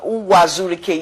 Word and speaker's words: Uwazurike: Okay, so what is your relationship with Ralph Uwazurike? I don't know if I pronounce it. Uwazurike, yes, that's his name.